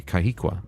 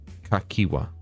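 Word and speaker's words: Cahciua: saying it wrong earlier I think I was calling you kahika no kakwa ah whatever dude this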